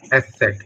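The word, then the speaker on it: Eszett: S Sir, how to set, pronounce? S set, S S.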